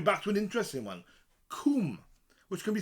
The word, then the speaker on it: cwm: And they say it might have come from the Welsh word cwm. Coomb. Yeah, that makes a lot of sense. Coomb means valley in Welsh.